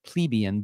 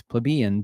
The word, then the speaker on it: plebeian: I always pronounce it plebeian, but it's plebeian because it has to rhyme.